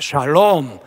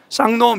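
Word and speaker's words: שלום: 평강이 있을지어다 히브리어로 샬롬이라게 샬롬 한번 따라 할까요 샬롬 샬롬 우리 옆사람 바라보면서 샬롬 샬롬 예 발음을 잘하셔야 됩니다 쌍놈 이렇게 하면 안 돼요 샬롬의 샬롬 평안을 비는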